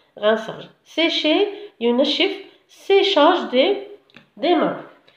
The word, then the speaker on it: rinçage: rinçage هنا rinçage attention ديروا لها la cd sinon نقراوها rincage d'accord سي هادي ديروا لها la cd تحتها باش تنطق rinçage.